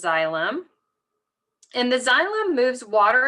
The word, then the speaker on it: xylem: have What's called the xylem so this is pronounced xylem and the xylem moves water and materials and